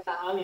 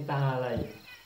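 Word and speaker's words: تعالي: Iya, tapi berarti bukan ta'ali tapi ta'alai. Oh, okey. Jadi Supaya pembetulan yang ta'alai baik. jadi ta'alai. Ta'alai. Okey. Kalau kita mengatakan mari untuk perempuan itu bacanya apa? Ta'alai. Ta'alai. Kalau kita cakap ta'ali betul tak? Salah. Dah tahu.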